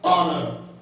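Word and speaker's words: honour: जैसे ऑनर, ठीक है, ऑनर, ऑनर, है ना, ठीक है।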